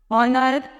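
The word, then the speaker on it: honour: जैसे word form में honest, यहाँ पर सभी में एच जो है वो साइलेंट, और ऑनर, ऑनररी, ऑनररी मिक्स होता है अवेतरी, मतलब जो बिना बेहतरी की काम करता है वो होता है ऑनररी।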